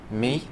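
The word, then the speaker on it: μ: Mu. I've been told by Greek students it's pronounced mi. Well, whether it's mi or mu, if you see that symbol, what is it?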